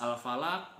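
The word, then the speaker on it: الفلق: Nah, al-falaq di situ dalam lafaz terakhirnya ada huruf qaf. Qaf itu apa? Huruf qalqalah. Maka cara membacanya yaitu harus dipantulkan. Jadi seperti itu.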